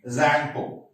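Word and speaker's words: Tsangpo: T is silent. Okay, Zangpo.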